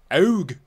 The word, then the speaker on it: AEUG: Then we have the AEUG, So I watched this originally in Japanese, and in Japanese it's pronounced AUG. AUG. Which, right. That is how you pronounce that.